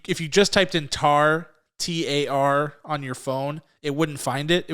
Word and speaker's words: Tár: review which will be tar and yes that's how it's that's how it's pronounced with the accent over the a it's an ungoogleable film